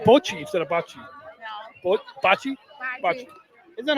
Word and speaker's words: bocce: But Anna, you were saying that you're Italian, and the right way to say Bocce. Yeah. So we should say Bocce instead of Bocce.